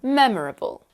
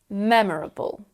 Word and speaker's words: memorable: story as an example memorable memorable the main stress is on the first syllable me the suffix isn't